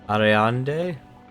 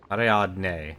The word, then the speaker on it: Ariadne: I can't pronounce her name. Ariande? No. Hang on a second, we're gonna be doing this for a while. Ariande. Ariadne.